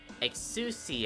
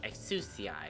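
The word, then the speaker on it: Exusiai: nice okay i never understood how to like pronounce his name excuse ci i think this is how you pronounce it exo-ci is a sniper operator with the ability to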